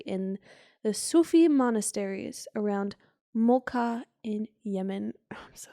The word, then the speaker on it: Mokha: the Sufi monasteries around Mocha in Yemen. Oh, I'm so sorry. Is that where the origination of the mocha came from? That's cool. Is that spelled the same? No, it's Mokha, but that's pretty cool.